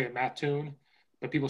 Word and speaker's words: Mattoon: is Mattoon, and that's how I say it, Mattoon, but people say Mattoon. And so when people from Chicago, a lot of people from the suburbs go to Eastern, and there's restaurants in Mattoon and stuff.